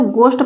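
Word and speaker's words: ghost: पर देखिए यहां पर इसको गोस्ट पढ़ा जाएगा एच नहीं पढ़ा जाएगा यहां पर एच साइलेंट है सॉरी जी नहीं उसके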